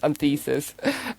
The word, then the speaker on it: Anthesis: But Anthesis is also slightly difficult to say, especially for German with so many THs. And we got loads of different versions, so we're trying to get the name and the pronunciation in there. So it's Anthesis and not other Pieces, yeah.